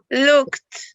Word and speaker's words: looked: me the color please this one looked with a t at the end can you say it and tell me the color breath looked excellent that is the pronunciation looked with the t at the end good even though these verbs